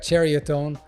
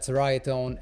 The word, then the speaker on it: Ceriatone: and so nick and the folks over at cherry atone i was corrected about eight times on the